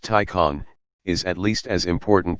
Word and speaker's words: Taycan: a serious tesla contender the taken pronounced tycon is at least as